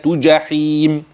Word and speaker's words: جحيم: وتسيه وتسيه وتسيه جحيم الجيم اخلي بالي من النطق بتاعها جي هكذا وتصلي جحيم جميل الايه التي تليها